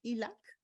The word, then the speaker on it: ELAC: importante que dice ahí elac en inglés se pronuncia ilak muchas escuelas cuentan con